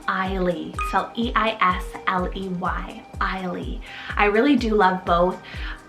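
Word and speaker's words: Eisley: also have the name i lea cell e-i-s-l-e-y ailee i really do love both i really couldn't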